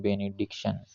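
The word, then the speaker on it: benediction: इसका प्रोनाउंस है बेनेडिक्शन यह ए जो होता है यह थोड़ा अलग तरह से बोला जाता है जैसे बेनेडिक्शन इसको मतलब बोलना नहीं होता है बेनेडिक्शन डायरेक्ट इसको बोलते हैं बेनेडिक्शन तो यह तो प्रोनंसिएशन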